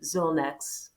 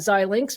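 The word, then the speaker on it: Xilinx: acquisition the company zilnex i'm saying that correctly so maybe talk a little bit about how that fed into your strategy how that continues to help you be competitive uh in this in this marketplace yeah absolutely and uh mary i'm going to correct you a little bit it's not zy links but i understand it's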